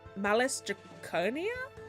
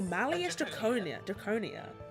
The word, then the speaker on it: Malleus Draconia: Wait, how did you pronounce the name? Malice Draconia? Malleus? Malleus Draconis. Ooh, Malleus Draconia.